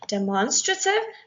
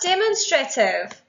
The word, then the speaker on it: demonstrative: let's move on to demonstrative not demonstrative demonstrative is how you pronounce it but a way to remember it is by remembering the word demonstrate I'm going to give